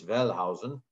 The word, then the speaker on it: Wellhausen: The theory was put forth by a guy named Julius Wellhausen, spelled Julius Wellhausen if you're looking at it from an English lens, but in German it's Julius Wellhausen, who was at Tübingen in Germany.